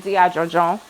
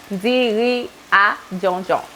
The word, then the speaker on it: diri djon djon: of Haitians would use tri while they're making Diri Djon Djon. That's how you say it in Creole. I know I kind of said that kind of fast, right? Diri Djon Djon.